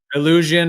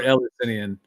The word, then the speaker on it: Eleusinian: I've heard it pronounced both, illusion or Eleusinian.